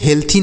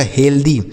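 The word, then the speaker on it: healthy: ये लिखा आपका हेल्दी क्या पढ़ा है इसे हेल्थी नहीं पढ़ेंगे दोस्तों देखिएगा यहां पर टी एच का उच्चारण आपको द के रूप में करना है तो इसे पढ़ा जाएगा हेल्दी क्या पढ़ा जाएगा हेल्दी हेल्दी मतलब होता है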